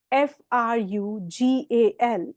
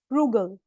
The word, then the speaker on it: frugal: First word is frugal, and we pronounce it as frugal. Frugal. ज नहीं बोलना अब इसको, ठीक है? ग. जैसे गोवा बोलते हैं, जी एज इन गोवा, वैसे फ्रूगल.